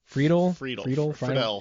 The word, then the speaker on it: Friedle: I think is how you pronounce his last name. Yep. Will Friedle.